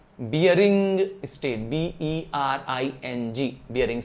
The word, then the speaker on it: Bering: बियरिंग straight, BERING, बियरिंग।